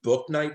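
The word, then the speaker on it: Bouknight: night by the way i know his name is spelled b-o-u but his actual name i looked it up because i didn't wanna i wanted to make sure i knew it is book night surprisingly that's easier the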